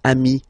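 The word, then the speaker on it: amis: it's the singular remember if you want to put the plural form then you just add this final s here okay but then technically you pronounce it the same way so singular form Ami plural form you add this s but it's Ami as well okay in that case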